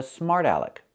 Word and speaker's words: smart aleck: Again, the t changes to a fast d. Smart. Smart. Smart alec.